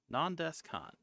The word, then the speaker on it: Nan Desu Kan: One called Nandescon, although it's spelled nondesukon. It's a fun off the expression nandesuka.